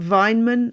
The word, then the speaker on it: Weinmann: Is it Weinmann, I'm guessing? That's exactly right, yes.